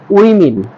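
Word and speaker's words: women: হবে specially specially দেন এটাকে আমরা ওমেন বলতাম এটা হবে না এটা হবে উইমিন এটা হবে উইমিন তারপর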